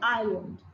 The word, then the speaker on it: island: जैसे island, the letter L is silent.